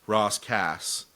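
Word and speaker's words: Ras Kass: It's but it's pronounced Ross Cass his his first album assassination.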